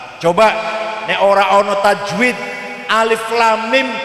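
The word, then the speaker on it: الم: ya ora ono tajwid Alif Lam Mim dibaca alam atau Sama aja Sama tulisannya kan Alam eh salah bacanya harus alif.lam.mim bacaan itu namanya Mas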